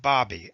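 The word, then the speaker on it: Baby: The name may be spelled B-A-B-Y, but it is pronounced Bobby, as in hobby.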